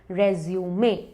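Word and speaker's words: résumé: अब इसका reference French है, इसीलिए इसका प्रोनाउंसिएशन है रेज्यूमे।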